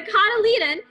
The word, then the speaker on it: cotyledon: The cotyledon has to have enough turgor pressure in its cells to break through the seed coat.